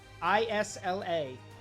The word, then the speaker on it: Isla: So, my niece is named Isla, I-S-L-A. So I'm an uncle now. The S is it? So Isla. It's. How do you know the S is silent?